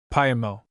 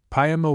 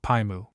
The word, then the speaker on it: Paimo: mentions a place called Paimo. This is its pronunciation in Canton, but in Shanghai, where mo is accorded the sound of mu, see Williams' Dict. Page 1154 and page 1186, column 6, Paimo would be called Paimu.